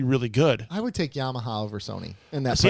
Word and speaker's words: Yamaha: Yamaha? It's Yamaha. You pronounced that wrong, you dummy.